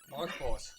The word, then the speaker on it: marlEXplores: marlEXplores.